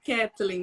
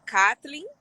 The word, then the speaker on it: Kathleen: Mas eu vi que você escreveu no meu WhatsApp Kathleen, né? Exatamente. Meu nome, na verdade, é Kathleen.